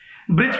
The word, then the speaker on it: Brij: ब्रिज की spelling भी कितनी गलत लिखी है हुमा खान आपने, हैं?